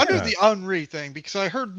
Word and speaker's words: Henri: The letter H at the front of a French word. Okay. Is never pronounced.